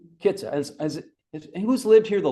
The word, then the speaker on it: Kitsap: Because now we say, it's my sense is emphasis on the first syllable, Kitsap, right? Kitsap.